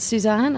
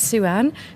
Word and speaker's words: Suanne: and people go so is it Suzanne I'd be like no it's Sue Ann but it's spelled sua